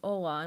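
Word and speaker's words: Hola: In Spanish, it's Ola. In Portuguese, it's Ola. Pronounced the same but written different.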